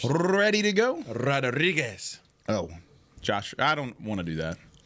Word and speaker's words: Rodriguez: You gotta roll your R's. Ready to go? Rodriguez.